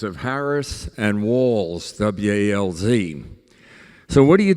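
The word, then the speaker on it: Walz's: the human voice so do we say Harris uh economic um plans policies do we we say walls military service I don't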